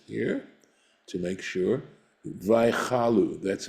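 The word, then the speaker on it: וַיְכַלּוּ: Vaychalu, that's how it's pronounced, right?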